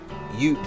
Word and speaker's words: Yoop: Yoop that rhymes with soup. I keep mispronouncing his name and it really bothers me.